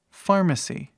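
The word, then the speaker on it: pharmacy: que significa Almoço próxim nós temos PH que faz som de f igual um F mesmo por exemplo PH ou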